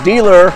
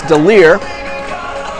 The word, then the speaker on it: DeLear: You know, I've been saying dealer all week, and you told me it's DeLear.